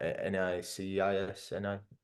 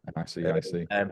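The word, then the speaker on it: NICEIC: Well, through your awarding body, so your competent person scheme, so APHC, NAPIT, or NICIS, I always say it wrong. NICIC.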